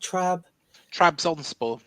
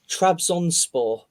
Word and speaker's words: Trabzonspor: Trabzonspor. Trabzonspor.